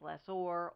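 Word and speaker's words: lessor: school they taught us mineral own or rhymes with less ore oil and gas company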